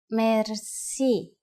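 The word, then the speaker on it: мерси: Merci. Merci is a loan word from French, but it is pronounced with the typical Bulgarian hard R.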